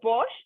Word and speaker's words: borscht: So Pearl just said that she made is it the borscht? Is that how you would pronounce it?